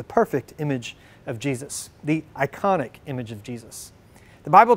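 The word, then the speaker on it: εἰκών: a greek word for this too and it's pronounced icon it's where we get the english word for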